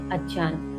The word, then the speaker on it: अज्ञान: कुछ व्याख्याओं की माने तो यहां इस नींद को अज्ञान अर्थात अज्ञान सही उच्चारण होता है अज्ञान।